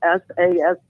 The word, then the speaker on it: Sask: It's spelled SASK. It's called Sask.